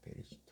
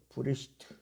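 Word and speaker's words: בְּרֵאשִׁית: 그럼 70인역에서 뭐냐면 원래 히브리어 성경에서는 창세기를 히브리어 성경에서는 브레시트 뭐 그냥 이 그 방청기 때문에 베레시트라고 합니다. 베레시트 브레시트 이렇게 발음해요.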